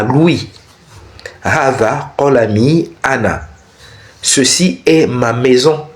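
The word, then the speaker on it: أنا: Donc ici, on dit le pronom personnel ana, je, ana qui signifie je, se prononce ana, c'est-à-dire sans allongement.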